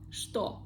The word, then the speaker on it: что: The word что. Also, we see the letter, the sound ch, but we pronounce it like sh. Что? Что это? Что это? Что это? I don't say ch, I say sh.